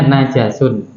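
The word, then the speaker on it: نَجَسٌ: Maka berarti bacanya najasun.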